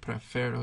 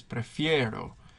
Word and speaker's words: prefiero: So that stem change is always pronounced. It's not prefero, it's prefiero.